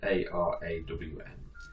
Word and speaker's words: Arawn: Everyone is ARAWN. A-R-A-W-N. No. Ah. No, for net. And it's pronounced A raw, because I write the pronunciations in, it says A Yeah.